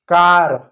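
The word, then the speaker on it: car: अब देखो प्यार बच्चों, इन सब में ए के बाद आर आया है, ए के बाद आर आया, ए के बाद आर आया ना, इसलिए हमने आ पढ़ा। क्या पढ़ा? कार, park, star, hard. तो हमेशा याद रखना, एक के बाद आ रहा है तो आ पढ़ोगे।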